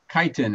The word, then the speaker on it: chitin: Please spell that the word. I'm taking note chitin. For my graduate student. Chitin.